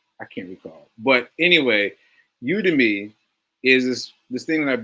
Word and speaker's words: Udemy: Udemy. It's spelled the a Y EMI.